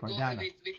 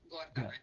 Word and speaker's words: Gordana: So am I pronouncing Gordana? Pronounce that? Yes, that's it. Gordana. The G is like a G. Gordana.